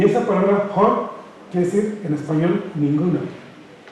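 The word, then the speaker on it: ohne: Y en alemán hay una palabra que se pronuncia, discúlpenme la pronunciación del alemán, Hon, que inicia con letra O, O-H-N-E. Y esa palabra Hon quiere decir en español ninguno.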